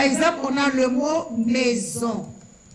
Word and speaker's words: maison: Par exemple, on a le mot maison. Aquí la S está en el medio de dos vocales, suena como Z.